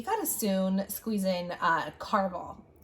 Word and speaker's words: Caraval: We're like I just told her today, I said, we got to soon squeeze in Caraval. Is that how you say it? Caraval? Caraval. I did not say Carnival.